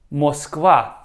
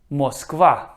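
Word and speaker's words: Москва: Moskva. Moskva. This is the name of the Russian capital, in Russian, Moscow. Moskva.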